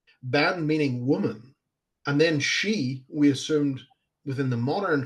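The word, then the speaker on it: sidhe: for the fairy and we call them the she and which is spelled s-i-d-h-e the she yeah um but and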